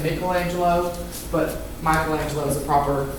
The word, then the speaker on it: Michelangelo: Michelangelo, or a lot of people say Michelangelo, but Michelangelo is a proper pronunciation, was born on March 6, 1475 in Caprice, Italy.